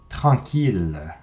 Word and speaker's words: tranquille: Il y a 3 grandes exceptions. 1000, ville, tranquille.